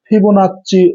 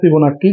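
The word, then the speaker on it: Fibonacci: এই অনুক্রমকে আমরা বলি ফিবোনাচ্চি অনুক্রম বা ফিবোনাচ্চি ধারা। ফিবোনাচ্চি বা ফিবোনাক্কি যেটাই বলো, বানানটা এক এক সময় এক এক রকম ভাবে থাকতে পারে, কিন্তু একই জিনিস।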